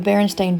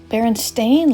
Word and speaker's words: Berenstain: said, wait a minute, they spell it Berenstain like stain on a shirt?